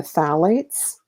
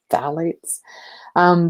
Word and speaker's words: phthalates: fairly major one are the phalates that's kind of a silent P phthalates these are a group